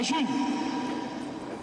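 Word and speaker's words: Ğ: une monnaie libre, la June. La nouvelle lettre, c'est un G avec comme une couronne qui se prononce June.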